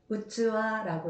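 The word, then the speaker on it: うつわ: 그리고 그릇은 그릇 기자 똑같은 한자를 써서 어 토키시에서는 음독으로 읽었을 땐 키로 읽지만 어 훈독으로 읽을 때는 우즈와라고 읽어서 그릇이라고 말할 때는 우즈와라고 말합니다.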